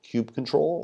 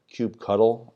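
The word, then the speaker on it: kubectl: tool we'll need is called cube control or cube cuddle i'm not sure how people pronounce it but i think i use control but i think i've heard cuddle too this is basically a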